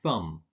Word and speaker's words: thumb: The first is that you don't pronounce the B in words like bomb, bomber, climb, and thumb.